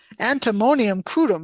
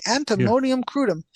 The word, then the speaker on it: antimonium crudum: remedies which include antonium antimonyium crudum let me say it correctly antimonium crudum and and roose tea